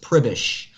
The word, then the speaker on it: Przybysz: those just tuning in we're talking with forrest pribish that is how you pronounce his last name if you did not